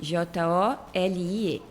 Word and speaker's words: Jolie: J O L I.